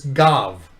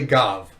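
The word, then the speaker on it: גב: Which again, every Jewish community agrees that the vet or the soft bet has a V sound.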